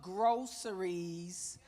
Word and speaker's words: Grow Series: Welcome to Groceries. Pronounced groceries, but actually spelled Grow Series.